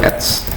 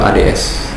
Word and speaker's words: Ads: Yang kedua itu adalah kita pengen bikin akun Google Ads. Nah, besok itu kita sudah mulai masuk ke Google ADS. Ya, bukan ADS ya bacanya, itu Ads. Ya, bukan ADS.